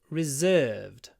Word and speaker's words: reserved: table is reserved uh the most difficult thing here is to remember where to put the stress reservation reservation so we have a long ver reservation but re reserved reserved reserved along for the second syllable reservation reserved reservation reserved